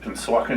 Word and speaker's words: Pennsauken: And then the first 5 years of my life was in Pennsauken, you have to say it correctly, Pennsauken, New Jersey.